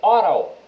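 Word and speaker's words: Aarau: A gente começa aqui e na ordem alfabética com o stadion Briglefeld, que é o estádio do Arau ou na pronúncia suíça, o Oral.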